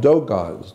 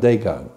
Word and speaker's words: Dogon: Yeah, like Dogons. The is spelled D-O-G-O-N. Dogon, not Dagon.